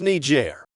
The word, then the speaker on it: Niger: teacher who was black I saw that country and pronounced it the offensive way complete innocently mind you I hadn't ever heard the country name pronounced and I don't think I even knew of the slur at that point my teacher got visibly upset but seemed to know it was unintentional and innocent she corrected me and said it's pronounced Niger I didn't know what